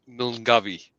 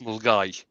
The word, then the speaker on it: Milngavie: There's a Scottish town which is spelt Milngavie, which you would think is pronounced Milngavie, but it's not. It's pronounced Mulgai.